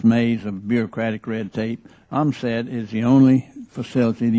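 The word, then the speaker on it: Ohmsett: The Oil Pollution Act of 1990 authorized the operation of the Oil and Hazardous Materials Simulated Environmental Test Tank, pronounced OMSAT, as the official facility to test and evaluate all oil pollution technologies.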